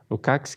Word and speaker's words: Lukács: com o pensamento de um senhor chamado Georg Lukács, na verdade, a pronúncia, Lukács, que fala de conscientização.